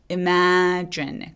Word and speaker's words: imagine: imagine 안 되겠죠. imagine 아니고 imagine. imagine. 강세 매 주시고 imagine이라고 쥐 소리 내주시는 거 기억해 주세요.